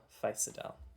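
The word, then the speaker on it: Physidel: uh let's see I was correct it is spelled like this p-h-y-s-i-d-e-l ficidal good job y'all I wasn't expecting that to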